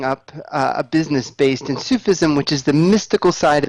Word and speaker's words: Sufism: and in the description you how do you pronounce it sup sup asou Sufi Sufism yes you feast Sufism right yeah what wouldn't